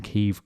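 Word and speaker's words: Kyiv: you one thing i it took a surprising amount for us to start pronouncing keeve correctly didn't it almost too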